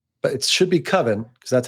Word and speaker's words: Coven: movie forever that's called koven but it should be coven because that's how it's pronounced but he doesn't like the way coven sounds like oven man he so he